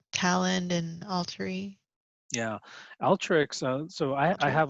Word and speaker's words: Alteryx: and all three yeah alteryx uh so i i have a lot of extra more it's pronounced altricks but this tool and